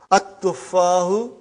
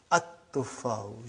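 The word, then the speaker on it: التفاح: But now your mind knows that that is a sun letter. So you will pronounce as at-tuffahu. You will put a shadda anta. At-tuffahu.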